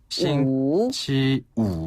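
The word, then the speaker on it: 星期五: 싱치우.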